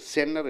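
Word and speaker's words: center: நீங்கள் எண்ணுக்கு அப்புறம் டீ வந்தால் அந்த டீயை உச்சரிக்கக்கூடாது, பிளென்னி என்று சொல்ல வேண்டும். 20 என்று சொல்ல வேண்டும். இன்டர்வியூவை இன்டர்வியூ என்று சொல்ல வேண்டும். ஸோ எண்ணுக்கு அப்புறம் டீ வந்தால் நீங்கள் டீயை மறந்து விடுங்கள். சென்டருங்கிறது சென்னர் என்று சொல்லுங்கள். அதுதான் சரியான உச்சரிப்பு. எண்ணுக்கு அப்புறம் டீ வந்து விட்டால் டீ உச்சரிக்கப்பட கூடாது.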